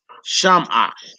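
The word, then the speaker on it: שמעה: And with the Shiva being added, the pronunciation is different. Right. So you wouldn't say Zakara. Right. You wouldn't say Shamaha.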